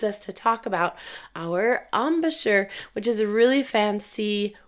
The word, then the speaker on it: embouchure: Well, let's just move right on, because this leads us to talk about our embouchure, which is a really fancy word, right? Embouchure, spelled with an E, M-B-O-U-C-H-E-U-R-E, embouchure.